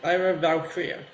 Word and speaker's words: Lyra Valkyria: On October 13th, WWE filed a trademark for the name Lyra Valkyria. Did I pronounce that right, Elio? Or did I butcher it? No, that's right. Lyra Valkyria.